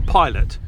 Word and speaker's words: Pilate: Pilot, but it is it's spelled like pate.